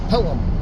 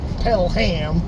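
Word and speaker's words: Pelham: And this is back in Pelam pronounced Pelum. As the Boston dad would say, it's not pel ham. You don't pel a ham. It's pel the baby.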